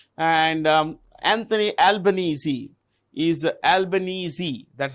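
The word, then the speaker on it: Albanese: can see here and um Anthony albanesi is albanesi that's how you pronounce it Anthony albanesi is a president sorry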